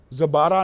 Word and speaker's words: زبارہ: ام سلیم نے تو زبارہ نامی عورت، اور بعد تلفظ کے اندر اس کو زبارہ کہتے ہیں، زبارہ نامی عورت کے